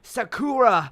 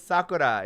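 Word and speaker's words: さくら: vowel and you know when they're like sakura no i'm like oh sakura you're gonna pronounce it like that it's sakura you know what i mean like that it's very like joined together like you know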